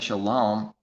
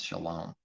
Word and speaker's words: shalom: If someone says shalom and pronounces it that way, which happens to line up with his word for the Hebrew word pronunciation with the letters and the vowel points, shalom.